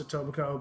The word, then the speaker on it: Etobicoke: statics Greatest Hits REO statics are out of Etobicoke which is essentially West Iran oh if anybody's not familiar with them it's got a weird spelling it's a tithing it's pronounced Etobicoke but it's double coke if you were to